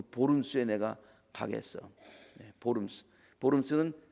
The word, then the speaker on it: Worms: 보름스는 독일 말인데요, 그걸 스펠링으로 쓰면 WORMS 그렇게 씁니다. 영어로 읽으면 worms가 돼.